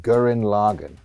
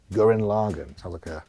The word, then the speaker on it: Gurren Lagann: Gurren Lagann. Gurren Lagann. Sounds like a Danish beer. I was going to say it sounds like a beer. I'll have 2 Gurren Laganns, please.